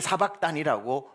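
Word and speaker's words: שבקתני: 히브리어로는 정확히 엘리 엘리 라마 아자브타니 이렇게 시작을 합니다. 근데 예수님은 십자가에 위해서 갈릴리 방언인 아람으로 아자브타니를 사막단이 사박단이라고 발음하신 거지요.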